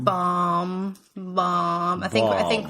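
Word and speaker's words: Baum: so b a m why else would you pronounce it bomb bomb bomb I think I think we're oh yeah we right bomb bomb Okay so we've also realized that we need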